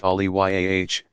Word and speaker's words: Awliya: They are called friends of God, Awliya, pronounced Aliyah, singular Wali, and are generally analogous to what Christians and others mean when they refer to saints.